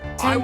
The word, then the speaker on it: Tempe: Tempe rhymes with Orny.